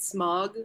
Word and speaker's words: Smaug: How do you say it? Smog or Smaug? It's like smog.